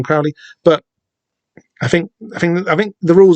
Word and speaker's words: Crowley: Six helpfully points out that he knows that you're supposed to pronounce it Crowley rather than Crowley.